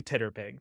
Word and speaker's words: TTRPG: Titterpig for TTRPG. Yeah, it's just phonetically Titterpig, TTRPG.